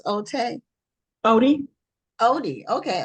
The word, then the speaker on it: Ote: but Katie and your last name is is pronounced oot Odie Odie okay Odie okay thank you for being guest and welcome